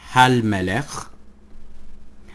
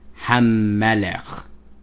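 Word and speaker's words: הַמֶּלֶךְ: So it is no longer hal melech, but it is ham melech. And notice how I'm pronouncing it. Hal melech, ham melech.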